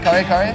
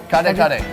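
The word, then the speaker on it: kare-kare: Kare kare? Can you tell it again? Kare kare.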